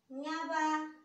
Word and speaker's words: न्याबा: म जाउँ, न्याबा, न्या, न्याबा, न्या अनि देश बा, न्याबा। यो साउन्डमा अलिकति स्वर तान्नु पर्यो। न्याबा, न्याबा यसरी उच्चारण गरिन्छ।